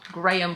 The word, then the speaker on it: Graham: And this I have in the shade Graham Cracker, or Graham Cracker, however you want to pronounce it. It's Graham Cracker.